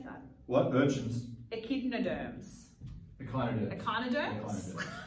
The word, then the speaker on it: echinoderms: Echinoderms.